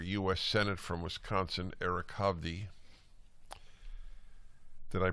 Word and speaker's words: Hovde: Republican candidate for US Senate from Wisconsin Eric HDI that I pronounced your your last name correctly sir you